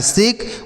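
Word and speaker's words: shake: आगे एस एच ए के ई, तो एस एच से पढ़ते हैं बड़ा शौ, ए से ए की मात्रा, आ के से पढ़ते हैं का, लास्ट में ही रहेगा तो उसे नहीं पढ़ते हैं।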